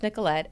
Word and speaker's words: Nikkilette: biggest platform um and my name is not spelled like it sounds yeah I was like spell it out for it yeah um so the first name is Nicolette n i k k